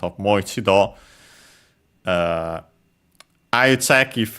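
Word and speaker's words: もう一度: Okay, good thing I checked because actually the expression moido according to the dictionary is unacented.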